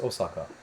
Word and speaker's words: Osaka: How do you pronounce Osaka?